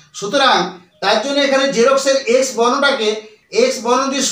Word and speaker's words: Xerox: ই আর এক্স বলতে পারি এটা হলো সঠিক উচ্চারণ এবং তার বাংলা হলো জিরোক্স জেরক্স কিন্তু জেরক্স নয় বর্গীচকার র কয় দন্তস